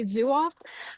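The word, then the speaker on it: Zouave: Um, it's pronounced zoo. Zoh, but most people I hear say zuof.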